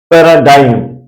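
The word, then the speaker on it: paradigm: है और सेंटेंस के अंत में जी एम आने पर जी सा रहता है ये क्या लि है पैराडाइम पैराडाइम जिसका मीनिंग मिसाल होता है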